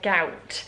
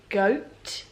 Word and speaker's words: Gout: uliana and I've realized I kept calling her gout which obviously is not the best word I believe it's pronounced goat doctor uliana goat at